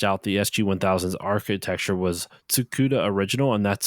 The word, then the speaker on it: Tsukuda: you know licensed out the sg-1000s architecture was tsukuda original and that's spelled t-s-u-k-u-d-a hopefully I pronounce that correct correctly Excuse Me